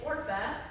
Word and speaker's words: Orpah: have known this was who or oprah was named after but they got the name wrong in the birth certificate and so she's supposed to be orpa but she's oprah instead so that's signed